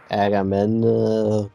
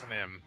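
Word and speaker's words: Agahnim: Can anybody properly pronounce the main villain of Leak to the Past's name correctly? Agamemnon, no, it's not that. Well, I think I just proved I can't. Chaos? Achnim.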